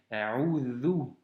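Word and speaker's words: أعوذ: Ici, c'est un vel et donc c'est A'udhu.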